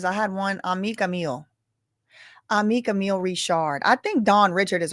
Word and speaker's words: Richard: Somebody said that is actually how you pronounce is Rishard.